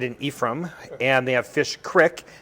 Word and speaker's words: Fish Creek: uh i stayed in ephraim and they have fish creek it's not they don't pronounce it creek it's called fish creek it's all these really great little towns and